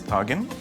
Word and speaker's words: tagine: Only in Egypt, the word's pronounced differently. We pronounce it as tagine.